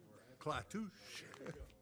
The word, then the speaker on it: Clatush: Clatush. It's just kind of like the way it's spelled.